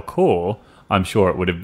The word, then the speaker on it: corps: After I read it, I read the pronunciation next to it, and I was like, oh, I don't know how to say that word. Core. I said that word incorrectly.